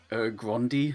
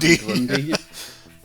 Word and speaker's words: Grundy: And this and and I think Fate's been recast and he keeps calling him Grandi. Grand. Grundy.